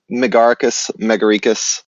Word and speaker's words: Megaricus: Megaricus. There's a type of mushroom called an agaricus. Cool. So it's just a portmanteau of mega and agaricus.